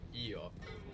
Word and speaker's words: Io: So this is the situation with io. Io, when it stands alone, but maybe a little more like yo when you hear it in a sentence.